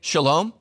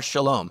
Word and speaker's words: shalom: to greet each other it's pronounced differently but it's spelled identically Jews say shalom Muslims say Salaam same word same word